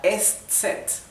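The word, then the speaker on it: Eszett: Y la última letra del alemán es la est set. Se se escribe así, ST, así es como pronunciaríamos el nombre de la letra en español. La est set, que parece se parece con la letra griega beta, es una letra que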